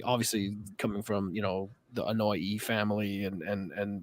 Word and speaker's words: Anoa'i: obviously coming from, the Anoa'i family and like his grandfather, the High Chief Peter Maivia, and like The Rock was is it Ano? How do you pronounce it? Anoa'i. Anoa'i. Anoa'i, like Hawaii. Anoa'i.